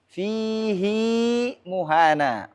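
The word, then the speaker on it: فِيهِ مُهَانًا: Nah, tapi di sini harus dibaca silah. Dan ini merupakan pengecualian. Fihi muhana. Surah Al-Furqan ayat 69.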